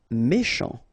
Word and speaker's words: méchant: Méchant, final T not pronounced, C-H together, sh, méchant, méchant.